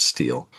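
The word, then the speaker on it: STIHL: St I HL that is pronounced steel.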